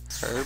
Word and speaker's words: herb: Herb? See, that herb. Links. It's herb. I did it! The H is silent.